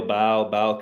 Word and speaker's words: Baal: Gareth Bale, Baal can be pronounced as Bale, yep.